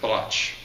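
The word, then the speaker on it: Brač: scrametta arrived in biloxi from the island of broch it's pronounced blotch like brac which is located near the city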